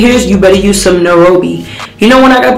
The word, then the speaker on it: Nairobi: Nairobi, that's how you say it, Nairobi.